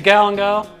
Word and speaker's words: galangal: Next bit here is a galangal, depends what syllable you put the accent on, as my dad used to say.